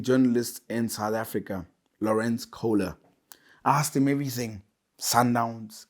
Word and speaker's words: Kohler: If you want to say it right, it's Kohler, but I say Kohler because it's much easier for everyone else.